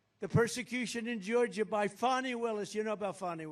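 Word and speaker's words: Fani: he said that the persecution in Georgia by fonnie Willis you know about fonnie Willis right has anybody fonnie it's pronounced fny F ni I that's Fanny but she likes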